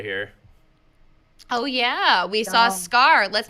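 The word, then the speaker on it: Skaar: frees from space so it's two A's pronounced like it's only one oh of course of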